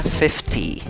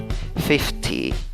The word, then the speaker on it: fifty: la palabra fifty fifty fifty ok 60 en inglés se escribe con cinco letras y se pronuncia con seis sonidos divides la palabra en dos sílabas la fuerza de voz en la primera sílaba igual se escribe con